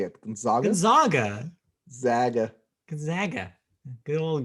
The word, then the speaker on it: Gonzaga: one seated teams gonzaga which i know is pronounced gonzaga because i heard somebody say that that way